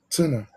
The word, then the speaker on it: Turner: Turner. Is it my pronunciation?